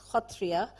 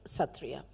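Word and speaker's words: Sattriya: particularly one dance form called Satria pronounced in aam as kria but because it is spelled with an X when you write it in English I thought it would become a Scrabble players Delight reading through my uh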